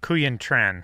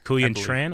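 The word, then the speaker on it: Quyen Tran: now we know Sam Google's wife uh uh Korean tran kuyan tran okay did a fantastic job that's how it's pronounced yeah she did yeah incredible work yeah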